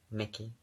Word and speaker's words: Mickey: Mickey. Like Michelangelo.